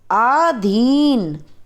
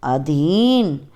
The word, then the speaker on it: अधीन: पहले हम आपको अशुद्ध वर्ण बताएंगे, अशुद्ध शब्द बताएंगे, फिर हम शुद्ध उच्चारण करके बताएंगे। आहार, आहार नहीं होता, आहार। साप्ताहिक, साप्ताहिक। अत्याधिक, अत्यधिक। आधीन, अधीन।